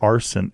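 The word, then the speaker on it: Arsyn: many generations they're baby arson arson a-r-s-y-n like lighting things on fire no but like spelled like s-y-n like instead of s-o-n just one letter off okay from Arson full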